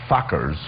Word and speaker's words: Fockers: I guess it was Little Fockers. right. Yes, I said pronounced it right.